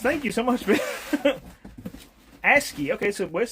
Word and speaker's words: ASCII: ASCII. Okay, so Wes said that's how it's pronounced. ASCII.